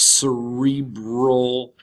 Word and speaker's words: cerebral: one is cerebral cortex cerebral not brow but cerebral cortex largest region of the mammalian brain and plays a key role in memory attention perception cognition awareness thought language and consciousness the cerebral cortex is the part